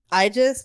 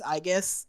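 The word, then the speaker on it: Aigis: pronounce it um uh I pronounce it AIS but that's incorrect it's IUS uh I don't care I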